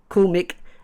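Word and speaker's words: Coolmic: out their website called cool mck is how you meant to pronounce it but how you spell it is again c o o l m i c I would always use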